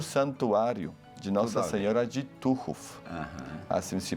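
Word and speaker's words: Tuchów: tem e o Santuário de Nossa Senhora de tuhu aham assim se pronuncia tuu um santuário aonde também as famílias e as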